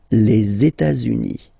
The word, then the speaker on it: les États-Unis: Okay, so if we make every links, we'll have it here and then here. Okay, les États-Unis, les États-Unis.